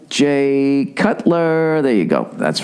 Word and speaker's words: Jay Cutler: Jake Cutler. Is it Jay or Jake? Jay Cutler. That's right.